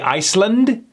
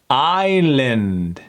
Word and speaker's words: island: Would they say Iceland? I spend a beautiful weekend in a tropical Iceland. Iceland. Island. Island.